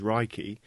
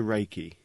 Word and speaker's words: Reiki: meaning universal life force although the proper Japanese pronunciation is raiki it has been westernized to Reiki Ray means Universal omnipresent